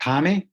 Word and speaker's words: Thame: Is that how you pronounce that? The town I grew up is called Thame. Thame, okay. Thame is the pronunciation, which is very remote village, about at 12,500 feet.